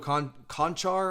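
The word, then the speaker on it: Čančar: on with cobit uh vladko khan khan char i'll probably mispronounce that name and a lot of you slovenian guys are gonna get mad at me uh but i think it's or chon char excuse me i know it's chancha i watched him uh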